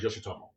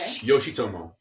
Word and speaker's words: Yoshitomo: The best sushi place in town is Yoshitomo in Benson. Okay. Yoshitomo. You're gonna spell? Is it? I can spell it for you. Yoshi, like Yoshi the. Yeah, like the little guy.